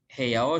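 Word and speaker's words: 部屋: Yang kedelapan, Yana sangwa heyao soji suru. Heyao soji suru membersihkan kamar. Ini dibacanya heya ya, artinya kamar.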